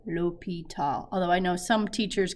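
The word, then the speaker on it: L'Hôpital: going to love it there actually happens to be a french accent on the o and it is pronounced lopital lopital although i know some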